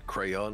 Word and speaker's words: crayon: We pronounce it crayon in the UK, therefore it must be correct.